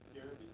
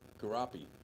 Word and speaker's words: Garapi: Garrity? Oh. Is that how you pronounce his last name? What's that? Is that how you pronounce his last name? Garrity? Garapi. Garapi? Yep. Okay. That was close.